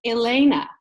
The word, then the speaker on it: Helena: So they took my middle name, which is actually, and they changed it to Elena, which is actually spelled Helena.